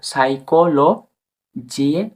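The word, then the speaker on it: psychology: শব্দের শুরুতে P plus S থাকলে মানে পি এবং এস একসাথে থাকলে তখন পি পড়া হয় না একদম সাইলেন্স থাকে তো বন্ধুরা ফর এক্সাম্পল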